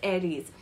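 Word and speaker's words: Ares: RS a r e s but then it's pronounced as Aries similarly when we talk about Socrates it's not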